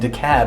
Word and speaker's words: DeKalb: I think it's important to say, in Atlanta we say Ponce de Leon, not Ponce de Leon, and DeKalb is pronounced DeKalb, not DeKalb.